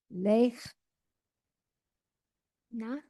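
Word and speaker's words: לֵךְ נָא: Lech. Na. Yes, lech na. And again, your final hey is silent, just like in Sarah.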